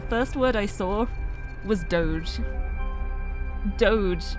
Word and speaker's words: doge: dictionary and the first word I saw was Doge Doge d o g e pronounced doge is in the dictionary as a